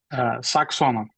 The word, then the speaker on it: Saxonov: Saxonov, do I say it right? Saxonov. Okay, perfect. So now we have it pronounced the right way.